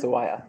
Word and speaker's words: Sawaya: Legal Information Institute, Sawaya, I hope I got that right. No. Tell me because I want it right. It's pronounced Sawaya. Sawaya, Yeah. sorry.